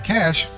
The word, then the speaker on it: cache: A cache, pronounced like the word cache, is a small amount of the computer memory that holds most recently used data.